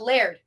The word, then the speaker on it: Laird: like yell at me if you're here but Laird is that right uh otherwise they wouldn't have